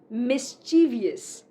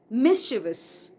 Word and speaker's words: mischievous: Many people say mischievous, but it is mischievous.